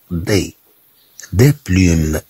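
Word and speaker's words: des plumes: نقول دي بلوم. هاد او اس لا تنطق كما تنطق هاد اي.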